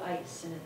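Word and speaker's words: EIS: These tableaux were done by a company called Studio Ice, and the last part is spelled E-I-S, but according to their website, that's how they pronounce it.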